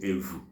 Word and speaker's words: evu: Some parts of Igbo land call it Evu.